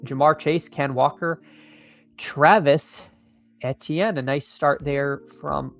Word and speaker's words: Etienne: Travis, and I don't think he said H. He said like A-chain. Like, no, I'm just gonna keep calling him Travis Etienne.